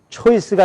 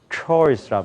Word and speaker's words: choice: 그래서 초이스가 아니라 뭘까요? choice란 말이에요.